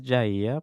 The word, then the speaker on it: Jair: They said, my name is Jair, pronounced as in yeah and ear. So Jair.